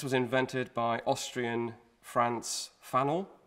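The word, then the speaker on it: Pfannl: invented by austrian franz fano fano with a p which is silent if i if i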